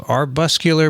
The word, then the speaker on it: arbuscular: paper describing the first fully sequenced genome of arbuscular mycorrhizal fungus. I think it's worth discussing. She sent a link to a PNAS paper. The genome of arbuscular mycorrhizal fungus provides insight into the oldest plant symbiosis.